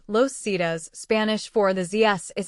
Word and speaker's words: Los Zetas: Los Zetas, pronounced Los Cedas, Spanish for the ZS,